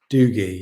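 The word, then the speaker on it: Dougie: Was it pronounced Doogie? Doogie. Yeah.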